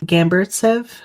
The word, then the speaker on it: Gamburtsev: Uh Gamburtsev, maybe? Gamburtsev? I will spell it for you.